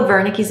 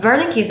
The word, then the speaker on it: Wernicke's: With Wernicke's aphasia, just think that someone is talking to you, perhaps in a different language, and you don't understand. So in German, the W is pronounced as a V.